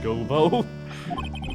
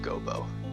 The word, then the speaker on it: Godot: you well then prosecutor goo go is the right way to say it it's not Gobo it's goo your honor okay in